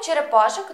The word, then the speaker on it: черепашок: чотирьох черепашх четверо черепашенят у слові черепашок наголосна А у слові черепашенят наголос на останній склад вивчаємо у чотирьох черепашок